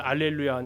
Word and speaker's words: 할렐루야: 이제 영어 하시는 분 H는 묵음입니다. 그래서 알렐루야, 알렐루야는 할렐루야는 같은 말입니다.